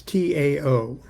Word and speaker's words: Tao: Lao Kun, the master, said, Tao is, and that's T-A-O, it's pronounced Tao.